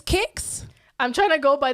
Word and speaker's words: CIX: correct the other one is I think it's kicks I'm trying to go by the list cuz